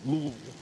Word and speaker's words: Louisville: Got to learn how to say it right. Louisville. Louisville. L O O V O O L.